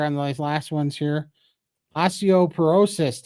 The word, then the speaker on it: osteoporosis: those last ones here osteoporosis Todd not osteop paresis you pronounced it correctly thank you so